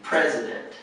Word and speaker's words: president: the president so um the emphasis is on the first syllable president president and the p and the r are a combination sound the president okay who vetoes